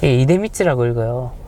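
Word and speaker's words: 出光: 나을 출자에, 한자에 나을 출자에 빛광자, 이데미츠라고 읽어요.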